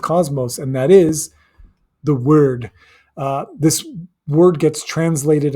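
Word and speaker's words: wyrd: And that is the word. Uh this word gets translated and and and pronounced as weird all of the time because of the Y. But the Y actually makes a short U sound.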